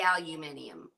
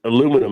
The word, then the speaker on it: aluminium: be at the end of it, it would be aluminium. Or it'd be aluminium. I don't Was know. aluminium? Is that aluminium the way it is there? But aluminum is how we pronounce it.